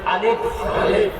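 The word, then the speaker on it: ألف: রহমান, রহমান, রহমান, আলিফ, আলিফ, আলিফ, আলিফ। সামনের যে দুইটা দাঁত, এই দুইটা দাঁত এই ঠোঁটের মাঝখানে লাগাই দেন। আলিফ, আলিফ, আলিফ, আলিফ, আলিফ, আলিফ।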